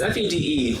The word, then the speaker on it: Fede: Like, how far is Fahey going to go with this? Yeah. Is that how you say his name? Because it's spelled kind of weird. Yeah, it's Fede. Keep saying Fede.